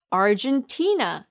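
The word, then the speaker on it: Argentina: 잘 모르시는 경우가 많아요 아르헨티나의 정확한 영어 발음은 얼 준치 나 입니다 arn 아 다림 나요 어 dein 등 준 치 아이는 tna 는 나 몹 아이의 강수가 있기 때문에 티를 제일 강하고 길게 발음 하세요 이렇게요 월중 친 아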